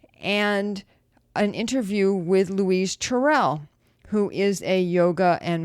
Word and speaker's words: Tyrrell: and i have a special guest today louise tyrell am i pronouncing that correct oh correctly okay good luis tyrell and louise is a inspirational speaker and a